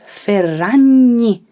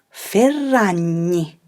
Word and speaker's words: Ferragni: name has the tricky sound like in the word gnocchi so her last name is ferrani remember to roll the double r say it with me chiara ferrani another brand that very